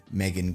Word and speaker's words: Megan: right off the bat I know her name reads Megan Gwyn she's Welsh apparently the proper way to pronounce that name in Welsh is Megan which is good because